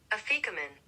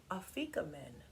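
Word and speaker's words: Afikoman: Afrikomen. Afrikomen.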